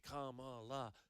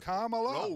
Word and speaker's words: Kamala: Just three simple syllables. Kamala, right?